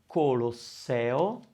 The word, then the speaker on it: Colosseo: then finally the word colosseo and again that's the syllable i'm stressing and the magic happens the a opens up so i hope this